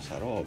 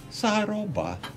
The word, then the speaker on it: Sarobá: Você bota um assunto, um acento numa letra que vai identificar. Sarobá. Não ficou melhor de pronunciar?